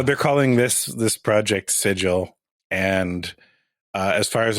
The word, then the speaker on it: Sigil: come down on the city's name is actually pronounced sigle you know this is very much a gif